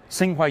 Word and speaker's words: Tsinghua: Frank Zhao is from Tsinghua University. Did I pronounce that right?